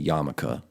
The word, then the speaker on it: yarmulke: be wearing your yarmulke that's how i say yamaka because it's spelled yarmulke um well jaime [